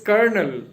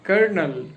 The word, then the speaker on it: colonel: But maybe somebody can pronounce it as a colonal but it is not conal. It is kernel. Colonel.